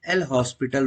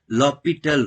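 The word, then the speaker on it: L'Hôpital: अब इसको आप लोग जाने अनजाने एंड हॉस्पिटल रूल बोलते हैं लेकिन इसका जो सही इसका प्रनंसीएशन है वह बोलते हैं लॉक पिस्टल रूल ओके इसमें साइलेंट होता है और इससे रिलेटिड लॉक पिस्टल रूल इसका प्रनंसीएशन है इसको आप पहले तो इसको सही बोले एंड हॉस्पिटल इसको नहीं बोलेंगे इसको लॉक पिस्टल रोल बोलेंगे और मैंने क्या बोला 050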